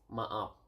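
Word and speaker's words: maaf: sorry is ma ma ma okay sorry is ma up Ma up and then very simp simple but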